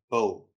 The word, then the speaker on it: Bijl: Ja, soos van der Byl Park. Of course. Hoekom Jy bly te lank in Australië. te lank oor sê, ek pronounce dit soos dit lyk, jy weet, is Ja, en die probleem is wat Aussies ook doen. So, ja, dis soos van der Byl Park, is maar dieselfde.